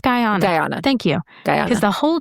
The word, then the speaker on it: Guyana: Is it pronounced Guyana? Guyana. Thank you. Because the whole time I was studying, I was like, I feel like it's Guyana, but anyway. Mhm. It's Guyana.